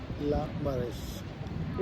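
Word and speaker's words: Le Marais: में रह रहे हैं जिसका नाम है ला मरे लामरे एस साइलेंट होता है मर इसका नाम है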